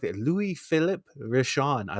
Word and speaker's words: Louis-Philippe: It's actually Louis-Philippe.